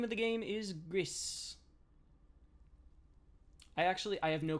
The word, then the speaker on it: Gris: it should be oh gree is the French word for gray is pronounced Gree I'm a I'm uncultured